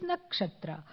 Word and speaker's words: Nakshatra: Then, of course, what rhymes with Kshatra is Nakshatra.